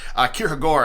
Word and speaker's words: Kierkegaard: almost certainly heard me talk about Kierkegaard or Kyra Gore as I'm as I've heard it's more accurately pronounced well anyway I was